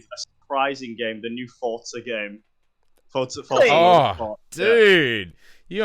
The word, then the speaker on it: Forza: Forza, mate.